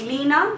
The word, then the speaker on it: Liana: Just like in Jamaica, like the Jamaican way, when they say my name, they don't say Liana, they say Lena.